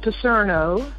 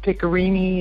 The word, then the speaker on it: Picerno: Now, it is pronounced Picerno, but over there, maybe in Italy, they say Picerno. Ah. And I've heard Picerno and Picorini and every other combination of it. But it is Italian, Picerno.